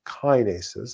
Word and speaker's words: kinases: you understand it so these relay molecules are called KES also called kinases I think both of those pronunciations are completely acceptable they're certainly acceptable to me and these kinases are